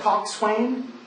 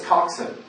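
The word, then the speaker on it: coxswain: when you read it it looks like Cox Swain but it's coxen that's how they say it at least on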